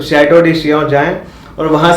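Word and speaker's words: Château de Chillon: चिल्लन लगता है पढ़ने में पर उसे शिया बोलते हैं। करेक्ट प्रोनाउंसिएशन जो है। तो शैडो डी शिया जाए और वहां से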